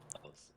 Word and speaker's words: Elys: Ellis, absolutely, Ellis Network.